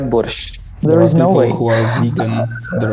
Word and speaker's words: борщ: It's not borscht. It's borscht. Yeah. Borscht. The last sound is ch, not.